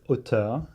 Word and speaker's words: auteur: the word is OT and it's spelled a u t r the word OT